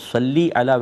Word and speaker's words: صلی علی: ہمارے ملک میں اللہم صلی علی لوگ کہتے ہیں، اور صلی علی ویسے یہ صحیح تلفظ ہے، اس طرح آپ پڑھیں تو زیادہ اچھا ہے، لیکن دوسرے سے بھی